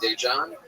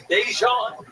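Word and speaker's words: Daegen: His name is spelled D-A-E, which is day, and then it's G-E-N.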